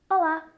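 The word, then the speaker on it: olá: real Basics here yes for hello you'll say hola nice and simple right especially if you speak Spanish but I really want you to watch out for the L in Portuguese we call this the dark L and it happens low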